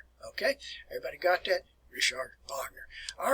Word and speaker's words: Richard Wagner: They pronounce the name in English. They describe it as Richard Wagner.